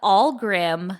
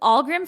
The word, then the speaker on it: Ahlgrim: It's the Allgrim Family Funeral Services. It's spelled AHLGRIM. But Allgrim Funeral Home is located in Chicago, but the